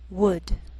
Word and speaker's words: would: Sometimes L can be silent, so you have to be careful. The first 5 words listed below are very common, so let's take the time to make sure that you're pronouncing them correctly.